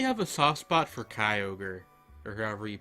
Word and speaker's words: Kyogre: I really have a soft spot for Kyogre, or however you pronounce that. Because I played... I'm pretty sure it's Kyogre. It is just Kyogre.